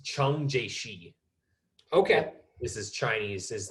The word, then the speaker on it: Chiang Kai-shek: most friendly with um it's not gonna be spelled the way i'm gonna say it i learned how to say it from a chinese friend of mine because i wanted to know yeah his name was chung jaishi okay this